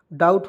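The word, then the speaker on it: doubt: से ट हो जाएगा डाउट होगा कि नहीं डीओ यू बी टी डाउट पढ़ेंगे नहीं बी को इसमें साइलेंट हमेशा रहता है इस तरह भी नियम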